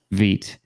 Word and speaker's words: Vite: was great it was the french word for fast and so i think